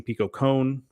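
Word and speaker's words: Kohn: rice there Pico KH whose name I've been mispronouncing Pico con uh my apologies uh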